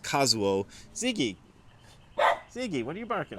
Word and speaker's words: Kazuo: So these characters would normally be pronounced Kazuo.